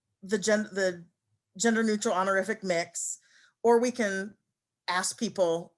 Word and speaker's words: Mx: is mx period and it's pronounced mix i do have someone